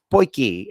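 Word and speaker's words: potjie: This is quite frankly an 8 liter South African poiki. It looks like it's spelled podgy, but it's actually pronounced poiki.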